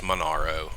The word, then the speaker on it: Monaro: Monero uh or I it's Monaro is how he pronounces his name it's not uh he's